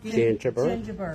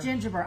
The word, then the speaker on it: Gingiber: Gingiber. Gingiber. I keep wanting to leave the N out.